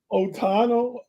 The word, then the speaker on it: Ohtani: And then guys like Freddie Freeman, guys like Shohei Ohtani, guys like the rest of the what I butchered his name? Ohtani.